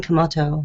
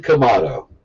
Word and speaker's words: Kamato: Our guest is Brian Kamato. Brian Kamato. Rhymes with tomato.